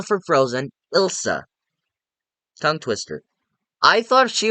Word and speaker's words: Ilsa: that I'd really like seeing Elsa return, not Elsa from Frozen, Ilsa.